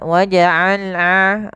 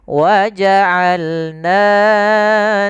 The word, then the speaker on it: وَجَعَلْنَا: Kemudian وَجَعَلْنَا نَوْمَكُمْ سُبَاتًا وَجَعَلْنَا Ain, hati-hati dalam pelafalan ain, jangan waja'alna, jangan hamzah atau jangan waja'alna masuk ke rongga hidung, tapi dia Bagaimana? Dari tengah tenggorokan kita lafalkan ain.